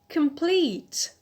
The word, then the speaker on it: complete: p naught second adjective complete complete so here the stress is on the alt that is lead so